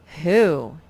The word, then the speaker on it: who: the sight word who wh is what many of our question words begin with and usually it says like in the word what but in the word who it's like the w is not even there so just remember w-h-o